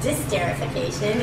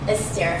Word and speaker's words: esterification: See, I even said it wrong. I said disterification. It's esterification. Esterification, yeah.